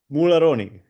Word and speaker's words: Mularoni: here uh by the name of M pronounce say your last name for me again sir mulon mulon he says it a lot better than